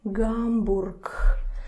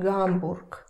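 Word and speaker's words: Гамбург: Hamburg. So this turns to the unvoiced pair. Mm-hmm. Hamburg.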